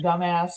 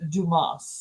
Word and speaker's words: Dumas: all these things Mr dumbass and he was going through all this stuff and the at the end of the commercial the guy was like it's actually Dumas Dumas yeah yeah yeah wasn't